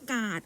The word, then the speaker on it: กาด: ตรง นี้ เลย ว่า กาด ออก เสียง แบบ ผัด กาด เนี่ย แหละ หู ฟัง ไม่ ใช่ แบบ การ์ด อวย พร นะ คะ ก็ นอก